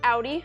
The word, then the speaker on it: Audi: can use to remember it's pronounced Audi so like cloudy Aude or like an